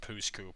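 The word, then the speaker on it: Pouce Coupe: It's literally pronounced Pooskoop, which is...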